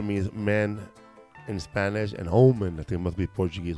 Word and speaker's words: Homens: Yeah, Omen. Omen. Oh, yeah. He's saying Omen. She's saying yeah, I no. forgot, like, drop the H. It's like the hombre means man in Spanish, and Omen, I think, must be Portuguese or French for man.